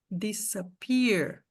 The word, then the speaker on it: disappear: Em todas essas palavras aqui, o S tem som de S. Disappoint, disappoint. Disappear, disappear. Disorganized, porque em português, quando o S está entre vogais, a gente faz um som de Z. E a nossa tendência vai ser querer falar essas palavras em inglês igual a gente falaria se fosse português, né?